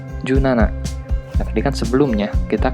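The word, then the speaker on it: 十七: Nah, dan untuk angka 17 menjadi junana.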